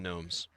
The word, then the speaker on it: Nome: N O M E, not the silent G like the lawn gnomes.